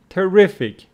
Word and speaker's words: terrific: Terrible with the stress on the first syllable, and terrific on the second syllable.